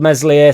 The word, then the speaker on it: Meslier: out so struck sold meslier silent s down river a little bit for the goal um mesier did manage to clear